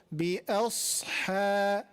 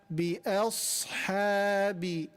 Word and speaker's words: بأصحاب: The only heavy part is the sad, letter sad. So we need to make sure when we are pronouncing that letter sad with a sukoon, our mouth is full. But just before that and just after that, it is the opposite.